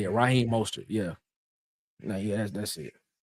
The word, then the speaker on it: Raheem Mostert: Raheem Mostert.